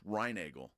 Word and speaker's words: Reinagel: yeah correct them yes no it's reinagle oh I'm sorry it's